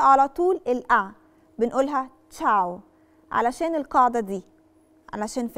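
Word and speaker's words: ciao: بننطقش فيها لالعتره ايه مثال عشان نفهم اكتر كلمه كل الناس عارفاها كلمه تشاو لو ركزنا في كلمه تشاو هي فيها ايه بعد لا العطر بس ما بتتنطقش بننطق على طول الاعلى بنقولها تشاو علشان القاعده دي علشان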